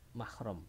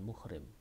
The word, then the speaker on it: mahram: Jadi mahram bukan muhrim. Kita kadang salah kaprah menyebutkan maunya itu menyebutkan mahram, tapi diucapkan muhrim.